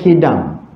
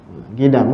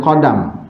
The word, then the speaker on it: Qidam: Erti Qidam ha apa kalau kitab Jawi dia tulis qf Dal mim bacanya Qidam Qidam kan jangan baca qadam kalau jawilah kalau Rumi